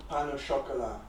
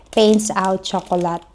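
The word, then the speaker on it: pain au chocolat: niya oh Ayan tinapay how to pronce pronounce it pains Out Chocolate pano chocolate pano chocolate Tingnan niyo naman yung spelling oh again pan chocol clos Yeah So yun nga pag binasa mo siya paints Out Chocolate pero pala pans out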